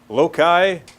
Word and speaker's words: loci: loki taillow Jackie right so that Loki I've heard that pronounce lote see I've heard it pronounced load side loci loci loci beats just all sorts of different things just go with the classical Loki then everyone's saying the same thing right yes you're assuming